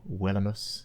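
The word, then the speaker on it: villanus: It first came into English from the Old French vilain, which in turn is from the Latin villainus or villainus, if you're pronouncing V's as W's, as you should be.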